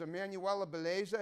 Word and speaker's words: Emanuela Bellezza: and i'm going to interview her name is emmanuella beleza is that how you pronounce it that's correct pizza belief like pizza